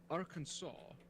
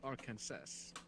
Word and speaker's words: Arkansas: all intents and purposes Arkansas should be Arkansas because that's how it's spelled phonetically yeah no one asked